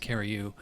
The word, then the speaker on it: Curieux: score for the alash carry you that's actually how it's pronounced CaRu uh I'm going to